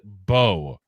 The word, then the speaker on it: Mbow: But it is it is bow like Bo Jackson bow and arrow.